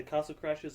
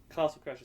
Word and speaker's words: Castle Crashers: that's fun um mostly been playing um either Castle Crashes or still da the war still playing Castle Crashers Castle Crashers say it right God damn it what did